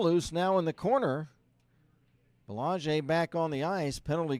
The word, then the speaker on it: Belanger: Looks like Belanger, but it is a French pronunciation.